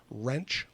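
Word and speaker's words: Roentsch: gabapentin five percent in what's called wrench that's spelled r-o-e-n-t-s-c-h anhydrous base it's an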